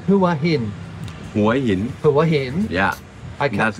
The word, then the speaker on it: Hua Hin: Hua Hin.